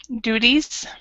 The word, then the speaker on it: duties: One of my duties Duties. duties is Mm-hmm. helping guests who arrive at our hotel. Okay, so duties. So that this T basically sounds like a D. So duties.